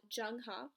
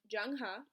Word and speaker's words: Jung-ha: I'm going to walk y'all through this text called Jung-ha. That's how it's pronounced, so don't get it twisted. Jung-ha.